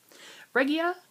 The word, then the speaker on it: Regia: And the yarn is Regia. I always hear Molly from Homespun House say it like that. And she's in Germany, so I trust her. Regia Calf Facet Design in 4250.